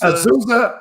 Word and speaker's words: Azusa: I was like a freshman when he was a senior and playing at, I can't pronounce it, Azusa. Azusa, okay.